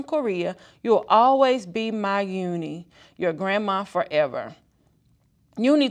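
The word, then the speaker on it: Unhei: joey he nodded slowly yes it's pronounced yunhai and it it means grace mr kim added uni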